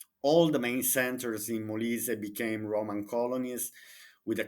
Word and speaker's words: Molise: at least to pronounce correctly the names, like Molise, Molise, the main cities of Molise. Maybe an English speaker would say Molise, no, Molise.